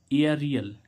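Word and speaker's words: aerial: तो ए ई, तो यहाँ पे ए के बाद क्या आ रहा है, आर। तो यहाँ उच्चारण क्या आ रहा है, एया रियल।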